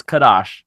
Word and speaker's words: Kadosh: that's the last one Kadosh I keep on saying quit ah SH but it's Kadosh no it's quoi -